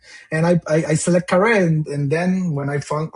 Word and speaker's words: Kare: Kare Kare. Yeah, that's correct. Yeah Puerto Rican pronunciation.